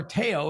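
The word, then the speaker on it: Théo: see Theo porcher okay Theo or Teo as it probably is properly pronounced um is a driver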